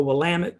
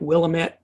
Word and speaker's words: Willamette: middle of Oregon through an area called the Willamette Valley. It looks like Willamette, but they pronounce it Willamette.